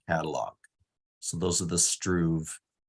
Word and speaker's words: Struve: I hear you pronounce it as Struve? Oh, Struve, yeah.